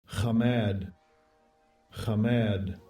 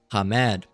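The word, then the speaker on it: חמד: Or Kamad. All right. Let's hear it. Uh pronounced Strongs H2530. Kamad. Kamad. All right. So, Hamad.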